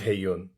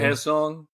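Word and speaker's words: Hae Sung: she has uh, with Haeyun. I feel like I just said his name wrong. How do I say his name? Haesung. Haesung.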